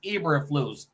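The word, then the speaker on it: Eberflus: too hey crooked says say his name right it's ebra flu EA e flu Oh Eva flu yeah yeah my bad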